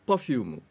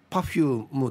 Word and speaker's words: パフューム: はい正解ははいパフュームですヒープーさんのパフュームのアクセントがヒを強く言ってましたが普通はパーを強く発音すると思いますがどうでしょうお 2人